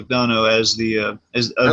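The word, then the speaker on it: McDonough: mcdono who is the apparently that's how he pronounced it Neil mcdono as the I like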